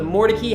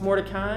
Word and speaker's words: Mordecai: still live in raleigh today still pronounced at that same really so this is with a more turkey house in the more tacky neighborhood on more turkey drive right over there man everywhere else that's mordecai and here we just say it a little different a little special part